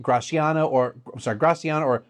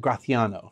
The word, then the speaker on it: Graciano: So as far as I know, the proper, true, proper Basque-ish pronunciation of those two is Mezuelo and Graciano, okay? So you have like that, your tongue kind of does that, like almost like a lisp.